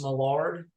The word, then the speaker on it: Millard: Jaymi, your bass player's last name is pronounced Millard.